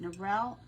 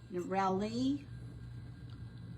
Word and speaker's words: Nurali: Is it Narel? Nurali.